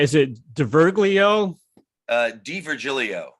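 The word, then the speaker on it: D'Virgilio: Am I pronouncing his name right? Is it DiVirgilio? DiVirgilio. DiVirgilio.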